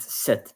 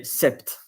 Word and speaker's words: sept: by instance and then set you write it S E P but normally you pronounce it set you don't say Sept but when you tell